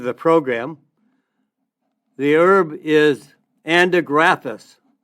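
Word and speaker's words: Andrographis: The herb is Andigraphis. Andigraphis. It's spelled A like apple, N like Nancy, D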